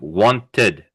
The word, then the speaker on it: wanted: It sounds like an id, id, not an ed. Like wanted, needed, waited, started.